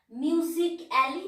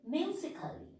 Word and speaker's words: musically: We are not pronouncing A. Music, music, music alley. We are telling like this. Music alley, no. Musically.